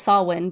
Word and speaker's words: Samhain: it's a variation on Samhain because that's how Samhain is spelled is s a m h e i n I believe. Oh. So that's Samhain, but it's Gaelic or Celtic and it is.